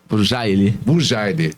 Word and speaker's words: Burjaili: Burjali, pronunciei certinho, é isso. Obrigado, mesmo, doutor? Burjali. Boa noite. Burjali. Burjali, isso aí.